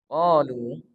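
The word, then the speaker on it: قالوا: Qalu subhanaka la ilma lana illa ma 'allamtana innaka antal alimul hakim. Qalu, di awal kalimat qalu subhanaka la ilma lana. Qalu, qaf ini dibaca panjang 2 harokat.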